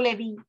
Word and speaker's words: Leví: El mismo le es dado el nombre de la tribu de Leví, pronunciado Leví, una de las 12 tribus originales de Israel, los cuales fueron formados, separados para el servicio sagrado de Hashem.